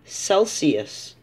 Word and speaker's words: Celsius: Or Celsius. The C-E says su.